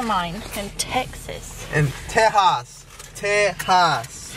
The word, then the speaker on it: Texas: in Texas and teas teas you got to say it right the x is silent teas I lost mine